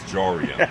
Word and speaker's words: Jorian: The one who rhymes with Dorian. This is Jorian.